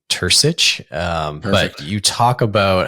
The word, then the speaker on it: Turcich: He's from Croatia, and he always talks about his last name just being like Bursic because that's what people pronounce it. But the correct Croatian pronunciation is Turcich.